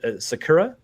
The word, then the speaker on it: Sakura: background and that was the ever so loved Sakura as I'm i pronouncing that right yeah yes and everybody pretty